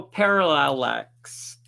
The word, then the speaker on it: parallax: Let's slow it down and emphasize that last syllable. P, air, la, X. P, air, la, lax. 25%. 25%. So parallax.